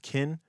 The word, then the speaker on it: Ken: To his friends, he was Ken, pronounced Kin, and everyone else, he was McElroy.